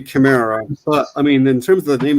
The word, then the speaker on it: Chimera: But yeah, it would be a ch sound. Like But like chronos, you know? yeah, so in English it would be Chimera.